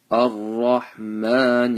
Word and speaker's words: الرحمن: Ar-Rahman Ar-Rahim. Make sure the ra's are full mouth.